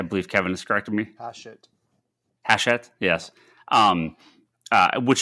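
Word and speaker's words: Hachette: um uh haset I never know how to pronounce them I I believe Kevin is corrected me haset haset yes um uh which has been the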